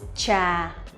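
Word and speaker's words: trà: the real peach cha so as you will see cha we have t r and tang we have c h they are a little bit different slightly different cha tr is a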